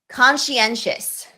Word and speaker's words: conscientious: understanding stressed vowels and unstressed vowels or unstressed syllables and sounds. So epistemology, epistemology, epistemology. All right, next one. Conscientious, conscientious, conscientious, conscientious, conscientious.